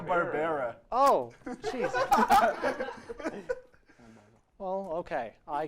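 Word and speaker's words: Barbera: was animated by Hannah Barbara who did The Flintstones and the jet six that does look like Hannah yeah what is that not how it's pronounced Hannah barara oh jeez well okay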